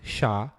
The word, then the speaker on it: SHA: used is sha 256 sh stands for secure hash algorithm is pronounced sha and is infect a